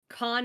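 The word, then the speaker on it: Khan: some point but it's it's Con Academy it's it's spelled like the Mongolian word for King k h n uh and it is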